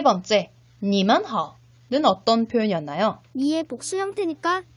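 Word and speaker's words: 你们好: 니만하오 라고 표현을 하죠. 역시 3번씩 한번 발음해 보도록 하겠습니다.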